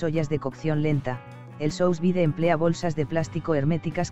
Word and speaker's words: sous vide: El sous vide, en francés al vacío, pronunciese sous vide, es un método de cocción que mantiene la integridad de los alimentos, al calentarlos durante largos periodos a temperaturas relativamente bajas.